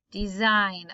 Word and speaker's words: design: Okay, the G is silent and we really just hear the N sound again. Design, a sign.